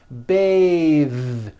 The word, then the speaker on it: bathe: unvoiced th beth but when you change it into a verb to bathe the vowel changes to an a sound and the th is voiced bathe like in bathing suit breathe same thing breath is